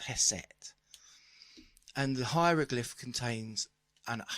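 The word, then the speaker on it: ḥst: But it's interesting, the word for music in ancient Egyptian is spelt in our words HST, but it's pronounced Heset.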